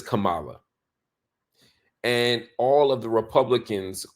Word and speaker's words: Kamala: Trump's voice he says Kamala and all of the Republicans on TV often say Cala instead of Kamala he knows how to say her name this is not a